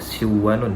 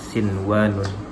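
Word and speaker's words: صنوان: Nah, bukan bacanya siwanun ya, tapi bacanya secara normal atau biasa sinwanun.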